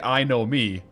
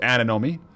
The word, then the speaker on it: anemone: No, it's anemone. There's more, you, like, pronounce more N's than there are in it. That's weird. You almost, like, double pronounce some N's, it sounds like. Alright, guys, I'm getting pretty